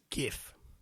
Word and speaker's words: GIF: as in GIF but the word is now widely pronounced with a hard G GIF yeah it's GIF gif